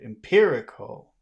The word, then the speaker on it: empirical: empirical empirical empirical yes so that you have to emphasize that syllable if you do any other syllable it would be very difficult to understand that word so it's really important to pay attention to which syllable has all of the stress empirical empirical how about